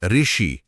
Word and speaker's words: ऋ: आज हम इसे व्यंजन र और स्वर ई को मिलाकर ऋ की तरह बोलते हैं। जैसे ऋषि बोलना हो तो ध्वनि र से शुरू होती है। हम ऋषि हां र की आवाज आ रही है।